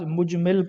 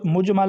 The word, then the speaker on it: مجمل: مجمل۔ یہ اس کو بعض مجمل پڑھتے ہیں، جبکہ درست مجمل ہے۔ یہ اصول فقہ کی